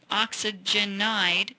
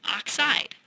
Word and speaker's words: oxide: way to say it it's not oxygen ID it's simply oxide we would call this the oxide ion and in fact most